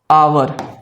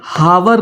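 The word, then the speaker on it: hour: जैसे आवर घंटा जब भी यह इस्तेमाल होता है या फिर ऑनेस्ट ऑनेस्ट यानी ईमानदार ये हावर नहीं होता है। ये हॉनेस्ट नहीं होता है।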